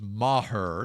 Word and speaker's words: Maher: And the other guy, Brett Maher, and that is how you pronounce it, according to the media guide. It is Maher, not Maher.